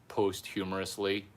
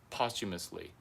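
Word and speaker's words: posthumously: honorary PhD holders posumously, which I used to be think is posthumorously, which is after death. Why is it funny after death? Oh no, Larry. It's posumously.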